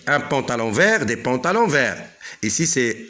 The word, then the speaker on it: verts: Ça ne se prononce pas, mais on l'écrit. Donc, un pantalon vert, des pantalons verts.